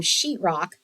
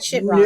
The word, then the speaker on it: Sheetrock: to remove wallpaper from sheetrock, that's drywall. Right? Drywall. That's professional talk, drywall. Yeah. Sheetrock. Yeah. And sheet is spelled SHEET, not SHIT or anything like that. It's not shitrock, it's sheetrock. Sheetrock.